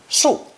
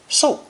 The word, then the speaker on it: 速: It's pronounced fourth tone, 速, 速.